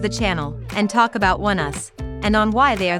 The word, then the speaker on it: Oneus: Oneus, pronounced like the words “one” and “us” together, is a 5 member